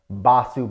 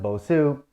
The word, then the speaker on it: Bosu: It's called a Bosu ball, Basu ball, however you want to pronounce it. Okay, I pronounce it Bosu.